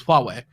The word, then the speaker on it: Huawei: naturally i have not no oh how you pronounce it is huawei huawei huawei like ho huawei get into the